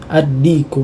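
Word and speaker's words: الدِّيكُ: Huruf alif tidak perlu dibaca meskipun dia tertulis di tulisan ya, tapi kita tidak perlu membacanya ya, kita langsung membaca huruf dal, jadi kita bacanya adiku, adiku, thayyib.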